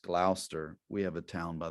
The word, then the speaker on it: Gloucester: It's, I think the way to say it is Gloucester. You may read it and it looks like Gloucester, but it's, I think, pronounced Gloucester.